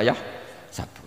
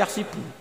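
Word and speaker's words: يحسب: karena dalam qir Asabah ada yang baca yahsibu qirah kita baca yah sabu tapi guru-guru kita kalau ngajar fikih itu bacanya yahsibu tapi kalau baca Quran yahsabu ya kan Quran kita kan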